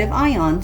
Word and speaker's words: Anion: And today is the fourth installment in focusing a category of an ion product. And I apologize for pronouncing it incorrectly it should be called an ion and not amnion.